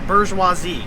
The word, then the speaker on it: bourgeoisie: It's pronounced bourgeoisie.